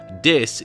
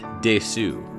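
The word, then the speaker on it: です: Des is pronounced des in Japan, not desu.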